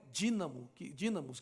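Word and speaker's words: δύναμις: A palavra virtude no grego ali se escreve dunamis, mas é dínamos que se pronuncia.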